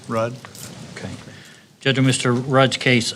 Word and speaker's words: Ruud: your last name r-u-u-d how you pronounce it Road Rudd okay judgment Mr Raj